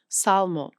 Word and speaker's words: salmon: But Renaissance scholars knew it came from the Latin salmon. So they added back the L to make etmology visible. The L went into the spelling. It never went into the pronunciation.